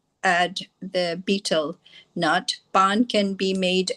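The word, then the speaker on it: betel: It seems that the standard pronunciation is beetle by the way beetle nut. I wondered about that myself. So say the dictionaries here.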